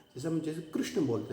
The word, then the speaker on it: कृष्ण: तो हमारे यहाँ पर इसको ई की ध्वनि हम बोलते हैं कृष्ण, कृष्ण, ई री की बात है।